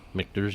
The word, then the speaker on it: Michter's: Michter's. Michter's, yep.